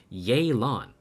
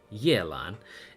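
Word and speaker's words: Yelan: ] fantastic idea to make her name yeylon instead of Yellen and ye is a syllable that genuinely does not exist in the Chinese in the Mandarin language and it it it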